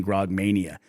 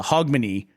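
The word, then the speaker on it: Hogmanay: to pronounce it so I was saying Grog Mania but it's a hogmany which is a very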